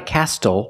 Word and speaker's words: castle: We also see the silent T when you have a spelling pattern S-T-L-E.